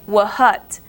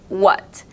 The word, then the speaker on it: what: what the word what you do not pronounce the h you don't say wut you say what it kind of sounds